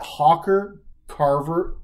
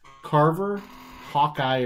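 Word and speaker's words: Carver-Hawkeye: unemployment line now but no Kalyn Clark at Hawker Carver excuse me I keep saying it wrong it's on me hello Tony how often are they carving it's it's Carver Hawkeye arena is the arena where Iowa men and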